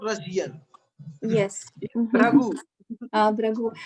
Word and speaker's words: Bhrigu: Бригу Риши. Bhrigu. Yes. It is no. He is not Russian. Yes. Bhragu. Брагу. Это на русском мы говорим бригу, а видите, у них это произносится как брагу.